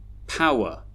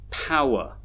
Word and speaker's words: power: And that's because although they have 2 syllables, one syllable is a stressed syllable and the other one is an unstressed syllable. The unstressed syllables actually have schwa sounds in them.